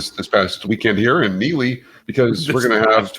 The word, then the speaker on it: Neligh: County Park and here in Neely, which is spelled Neligh.